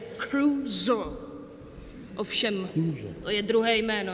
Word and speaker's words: Crusoe: To, Na ostrově Crusoe. Crusoe. No tak správně se to vyslovuje Crusoe.